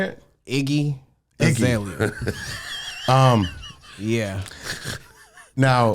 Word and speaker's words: Iggy Azalea: Iggy Azalea.